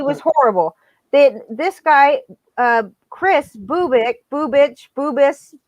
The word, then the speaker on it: Bubic: It's Chris Bubick, Bubic. I don't know how to say his name exactly, but okay. I think it's Bubic because it's Yugoslavian. I don't think there's a bitch at the end of it.